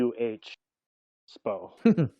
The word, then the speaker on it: Da$po: If you want to say it pronounced, it would be DUH, Spo.